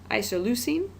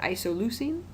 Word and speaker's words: isoleucine: these chemical formulas I should go ahead and pronounce them though so that first one up there is isoleucine kind of a fun word to say isoleucine the second one is the most fun to